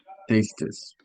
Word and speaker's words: tastes: Tastes. Tastes. This is one of those different ones, one of those exceptions donde sí pronunciamos la S, so it's tastes.